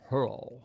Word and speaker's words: Hurrell: Hurrell is the way he pronounces it. Not Hurrell, but he said he'll accept either way.